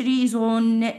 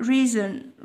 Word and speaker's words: reason: تمام، سبب reason reason reason reason، ما تقوليش reason، لا reason reason، هتكسر الاو في النطق شويه، هتكسرها زي كلمه person، بنكسر الاي في النطق، الاو مع الان اقولها ان، person person reason reason.